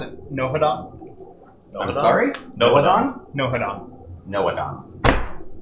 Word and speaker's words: Nohadon: So then you pronounce it Nohadon? I'm sorry? Nohadon? Nohadon. Nohadon. You don't pronounce the H.